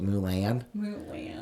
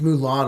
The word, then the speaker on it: Mulan: who's super super smart I always call it new land just to piss her off she's like it's Mulan uncle Jed I'm like how